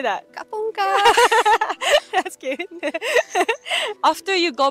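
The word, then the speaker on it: ขอบคุณค่ะ: Kapunka.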